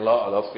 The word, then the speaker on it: Louvre: Itu tuh Louvre tulisannya bacanya Louvre. Itu sulit sekali bahasa Prancis, saudara.